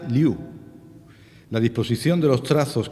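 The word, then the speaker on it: 六: explica lo que dice es el número 6 y se pronuncia liu la disposición de los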